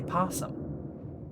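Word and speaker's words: opossum: And now you can spell possum with an O, but normally that O isn't even pronounced. You normally just say possum.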